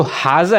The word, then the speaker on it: Hase: ये जो हाजा है ये वो हाजा नहीं है जो अरबिक में होता है हाजा भाई हाजा, ये वो वाला हाजा नहीं है, ये दूसरा हाजा है। इसके स्पेलिंग्स अगर आप देखें तो वो ये हैं HASE। अब आप ये कंफ्यूज हो रहे होंगे कि यार ये हाजा मैं क्यों कह रहा हूँ, हेज क्यों नहीं कह रहा, ये हादसा क्यों नहीं कह रहा।